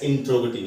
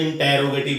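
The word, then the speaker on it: interrogative: इंट्रोगेटिव, ठीक है, कई बार आप इसमें इंटैरोगेटिव बोल देंगे हैं जो कि सही नहीं होता। ठीक है, असल प्रोनाउंसिएशन इसका होता है इंट्रोगेटिव। इंट्रोगेटिव इंटैरो नहीं होता, ट्रो होता, ट्रो इंट्रोगेटिव।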